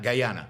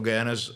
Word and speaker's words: Guyana: Venezuela between Venezuela and now how do I pronounce this Guana goana gyana Guyana I think it's Guyana Guyana uh in Brazil